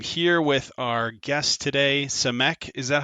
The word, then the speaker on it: Samek: jack and i'm here with our guest today cemek is that how you say it is that